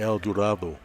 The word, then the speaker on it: El Dorado: school called El Dorado spelled the same pronounced differently actually they would say El Duro it's different but anyway